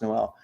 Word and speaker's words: Noel: thoughts on Jaylen no is it I think it's null I don't think it's pronounced Noel it's Jay no interesting okay have probably